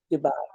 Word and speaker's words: Dubai: I want you to host a retreat in Dubai. Am I saying it right? Dubai. Yeah, Dubai. Dubai.